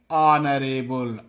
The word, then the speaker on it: honorable: Honorable, here also H silent. Honorable, an honorable.